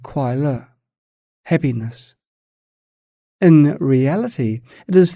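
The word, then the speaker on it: 快乐: Ordinary beings mistakenly perceive this entire process of changing feelings as happiness, pronounced as kwai le in Chinese. Kwai means fleeting and le means alleviation. Hence, it is called kwai le, happiness.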